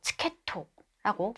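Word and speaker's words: チケット: B, 티켓이라는 단어는 이렇게 장음이 들어가지 않고 초금이 들어가야 되죠. 그래서 치케토라고 발음을 해야지 바릅니다.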